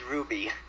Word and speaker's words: RWBY: it Ruby ask Anthony it's Ruby Ruby even though it's fell with a W yeah anyways because poor